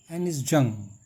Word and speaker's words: Anees Jung: lost spring bye एनिस जंग pronunciation है ये एनिस जंग अब देखिए इसकी है क्वेश्चन नंबर देना है